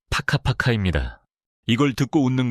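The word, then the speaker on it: whakapapa: 족보를 뜻하는 마오리어 와카파파를 예로 들어볼까요? 발음은 파카파카입니다.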